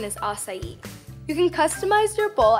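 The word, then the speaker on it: açaí: You don't like pronounce it the way it's spelled, but the real pronunciation is acai.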